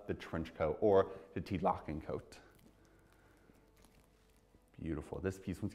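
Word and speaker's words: Tielocken: And actually kind of interesting, in 1912, the Tilokin coat, that's how you say it, Tilokin, which is basically was the trench coat.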